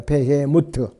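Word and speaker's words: בהמות: 이 비히못은 히브리어로 베헤모트라고 말합니다. 베헤모트. 정확한 발음은 그래요. 근데 비히못이라고 그러죠.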